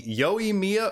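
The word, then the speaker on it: Yoimiya: say it tainari now one time where i do side with the voice actor is on the yoy mia vs yoymia debate i'm gonna have to side with jenny okabori here who indeed says it welcome to naganohara my name is mia she says so that is how i will pronounce it and that is how it is meant to be pronounced lastly our second new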